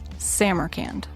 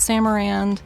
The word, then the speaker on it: Samarcand: Samurand. Not Samarand, not Sam Arand, which I did find websites that gave me both of those pronunciations.